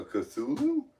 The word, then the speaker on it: Cthulhu: a Cthulhu it's uh no you said it right a Cthulhu yes Eldridge uh yeah yeah what's